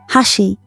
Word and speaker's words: hashi: The Japanese word for bridge, hashi, ciao, shares pronunciation with edge or margin, suggesting its role as a mediator between different states or conditions.